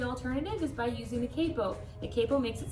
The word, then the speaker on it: capo: if you said capo 100% correct good yeah it's spelled c.a.p oh so some people might think to call it capo which is often times what I'll say just